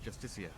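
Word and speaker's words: Justiciar: a justicar a foul it's pronounced justicia even is a signatory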